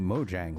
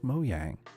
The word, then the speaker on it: Mojang: Most people call this the Mojang logo, but the correct pronunciation is Mojang, as they pronounce it themselves.